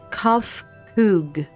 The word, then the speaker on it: Kofkug: As for nomenclature to address my individual person, I believe it would be pronounced Kofkug.